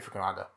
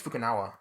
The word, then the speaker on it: Fukunaga: And of course, some of that work was done by Kerry Fukunaga. Fukunaga. Kerry Fukunaga. I always get his fucking surname wrong. We know who you mean. Kerry Fukunaga. I think it's Fukunawa.